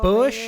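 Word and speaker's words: Busch: that's a good question it's American the same F this ain't your F1 pronunciations sorry red I gotta go Bush hurricane bush like the beer busher okay so um and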